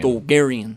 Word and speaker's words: Dulgarian: You say it with some emphasis. I say Dulgarian. Dulgarian.